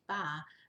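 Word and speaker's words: 八: good luck that's because the word for the number-8 ba rhymes with a word for prosperity ha it was such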